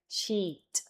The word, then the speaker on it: sheet: This one is I latina. This is easy. This is sheet. Es larga.